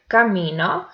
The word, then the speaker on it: camino: The word camino has three syllables. The first one is ca, the second one mi, and the third one no.